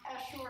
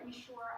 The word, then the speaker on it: Essure: syndromes that have developed after Essure or Essure, I pronounce it both ways depending on the minute and the day, and also some people who are complaining of autoimmune-like symptoms.